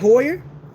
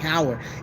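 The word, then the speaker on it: Heuer: tag Hoyer hey y'all I said Hoyer right I don't know why I kept saying tag Howard it felt more comfortable to say tag Howard I don't know but tag Hoyer I said it right the first time tag horer and that's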